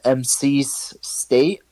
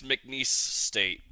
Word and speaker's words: McNeese State: MC State, I think that says MNCESE State. It's McNeese State is McNeese State.